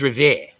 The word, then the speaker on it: Revere: so you know jib the way you pronounce revere is revere if you don't pronounce it that way then you know obviously english isn't your first language like the kid do